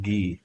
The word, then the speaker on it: Guy: Okay, it's pronounced Guy. Okay, not gay.